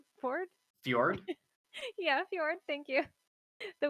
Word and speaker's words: fjord: The ICANN, it's also got a word I'm really bad at pronouncing. Whispering Ford? Ford? Fjord?